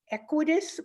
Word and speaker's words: Equitas: And it's about the Equitas project.